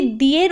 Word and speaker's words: the: আচ্ছা, একটা বিষয় রুল নাম্বার 1-এ যাওয়ার আগে, সেটা হচ্ছে যে নাউনের আগে দিকে বসানো হবে সেই নাউনের ফার্স্ট লেটার যদি ভওয়েল হয় তাহলে দিয়ের উচ্চারণ দা হবে, আর যদি নাউনের ফার্স্ট লেটার কনসোনেন্ট হয় তাহলে দিয়ের উচ্চারণ দি হবে।